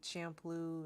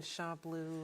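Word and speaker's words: Champloo: Some people say shampoo and shamploo and samurai shampoo.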